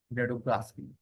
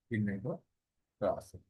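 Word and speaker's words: Winogradsky: Nedograsky. Nedograsky, who is again I'm telling you who is a father microbi soil microbiology के पापा कौन है? SN Vinogradski.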